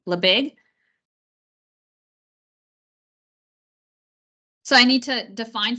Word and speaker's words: Lebesgue: think that way does it's pronounced leag it's written L EB SG e leig so I need to